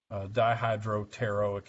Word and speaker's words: dihydropteroic: this stuff here, B, dihydropteroic acid. P is silent in that, by the way.